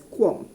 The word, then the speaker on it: QAM: quart okay qam uh we normally uh pronounce it as quan so 16 com for